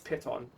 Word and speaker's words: piton: How to pronounce python? Piton. Piton. Okay, it's piton.